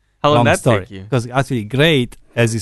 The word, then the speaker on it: Gra'it: yeah I mean you we pronounce it as in great as in the word great but originally it was meant to be like graa Itali ah okay that the